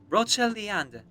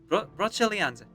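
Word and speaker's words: Brocéliande: Hang on, let me just correct my pronunciation here. Broceliande. Broceliande.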